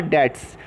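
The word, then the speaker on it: debts: लिखा हुआ obligation are डेट्स, B silent है बच्चों, डेट्स ऑफ the business are called liabilities.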